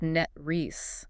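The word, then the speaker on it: NTREIS: And the note says it is pronounced net ree. Net ree with the last syllable ending in a hiss like a snake.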